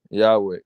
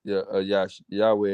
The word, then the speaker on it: Yahweh: sounds it's really yo Highway that's how you pronounce that Yahweh Yahweh yesu yesu yeah well that ain't how you